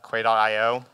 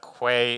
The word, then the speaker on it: Quay: I know that Quay is not the way you pronounce that word. That's how we pronounce it at CoreOS.